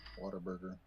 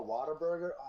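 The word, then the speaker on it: Whataburger: Water burger. Oh, water burger. I'm not a fan of the burgers honestly. Okay. But they're burger. It's literally What a burger.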